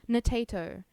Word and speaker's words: Natato: Frog boy, you would not comprehend the amount of people that mispronounce my name. It's Natato. Potato, because it rhymes.